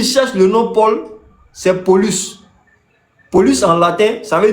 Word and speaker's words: Paulus: Et petit, là, on prononce ça Paulus.